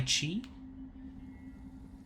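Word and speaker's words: qi: Apparently ki is pronounced with a ch sound. Chi.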